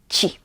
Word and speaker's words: ci: Remember that CI we always pronounce as ci. Ci.